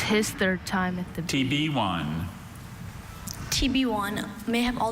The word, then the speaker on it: tibione: TB1. This word TB1. literally sounds like the letter T, the letter B, and then the number 1, but it's not.